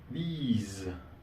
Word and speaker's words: these: Y se utiliza these. These es una expresión larga, la pronunciación es larga.